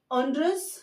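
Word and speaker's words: Honduras: Okay, next है ऑन्डुरस, next country है हमारी ऑन्डुरस, इसको बोला जाता है ऑनडुरास, स्पेनिश में बोला जाता है इसको ऑनडुरास।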